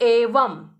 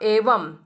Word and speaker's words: एवं: तो वहां पर यह नियम है कि जब बिंदी आखिरी वर्ण पर लगती है तो वहां पर हमेशा म का, आधे म का उच्चारण होगा। समझ में आया? जैसे एवं, व के ऊपर बिंदु है तो उच्चारण हुआ म का, एवं।